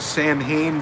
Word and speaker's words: Samhain: It looks like the word Samhain, but it is pronounced like the word you're phonetically spelling there, Sonny.